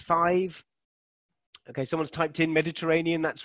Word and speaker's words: Mediterranean: one is it syllable three okay which number syllable do we think has the stress there i'll just say it one more time mediterranean okay so i've got three four and kitty